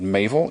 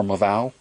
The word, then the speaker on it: Maval: luck with a company called mavl MAV MAV or maval just depends on where you come from how you say it mavl they're remanufactured